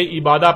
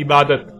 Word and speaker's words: عبادت: لکھا جاتا ہے عبادہ، اور جب عربی لہجے میں اس لفظ کو پڑھا جاتا ہے تو تیز ساکت ہو کر ہے کی آواز میں بدل جاتی ہے، یعنی اسے عبادہ پڑھا یا بولا جائے گا۔ عربی کا لفظ عبادہ جب اردو میں شامل ہوا تو اسے عربی کی بجائے اردو لہجے میں تے کے ساتھ بولا گیا اور بولا جاتا ہے، یعنی عبادت۔ اب آتے ہیں اس